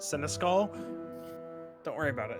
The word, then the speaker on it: Seneschal: No, this is actually pronounced Seneschal.